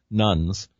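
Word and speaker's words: nones: As a hospital chaplain, I visit many patients who describe themselves as nuns, and that's spelled N-O-N-E-S, no religious affiliation, on their admission sheet.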